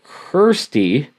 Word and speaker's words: Kirsty: female in the group is named Kirsty rhymes with thirsty and the three of